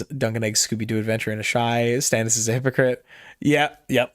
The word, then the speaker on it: Asshai: Duncan Egg Scooby-Doo Adventure in Asshai. Stannis is a hypocrite. Yep. Patire. I pronounce it Asshai.